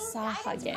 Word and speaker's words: Sahagin: Rare desert sawhugging variant detected. Commencing sawhugging protocol. That's how you pronounce it.